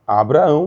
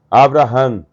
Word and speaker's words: Abraham: vete tanto é que o nome Abraão escrito com o da gueixa fica Abraão mesmo mas como pronunciam os judeus Abraham porque a Abraham porque eles usam o Vit e não o beat embaixo do beat nós